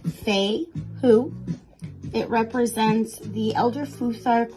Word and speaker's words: Fehu: Fehu is pronounced Fehu.